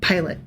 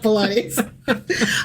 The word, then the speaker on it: Pilate: So it's going to be really hard for me to like No, Pilate, Pilate, Pilate. Not Pilates.